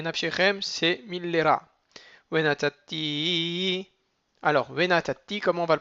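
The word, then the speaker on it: ונתתי: Alors, venatati, comment on va le prononcer? Vena, on ralentit sur le na. Venatati. Et on s'écrase sur le dernier tav.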